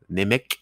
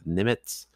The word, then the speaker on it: Nemec: On va parler de Simon Nemec, en tout cas, Nemec, mais on le prononce Nemetz.